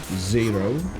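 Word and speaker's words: Zaero: Those being Zero, and the reason I pronounce it so weird is it's not Zero. It is Z-A-E-R-O, Zero, and Juggernaut, which has a longer title, but Juggernaut is what it gets called.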